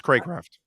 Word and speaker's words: Craycraft: how to pronounce this if it's craw craft or crate craft um it's craycraft crate craft okay that's what i